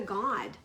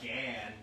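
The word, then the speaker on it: גד: Hebrew, you don't say Gad. You pronounce it God. God. Like you do in Spanish.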